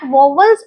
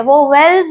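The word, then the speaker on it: vowels: Actually कई लोग इसको प्रोनाउंस भी गलत करते हैं। वो वेल्स नहीं है। इट इज वोवेल्स।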